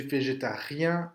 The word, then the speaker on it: végétarien: Je suis végétarien ou végétarienne. euh, Prononcez bien le re.